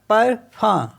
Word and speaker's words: parfum: Next word है PARFUM, तो ये हो गया परफम, परफम मीन्स होता है परफ्यूम।